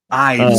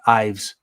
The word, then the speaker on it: Ives: Ives is how I've heard it pronounced. Yeah, Ives. Ives. Yeah, that's a lot cooler actually. Um it's like knives.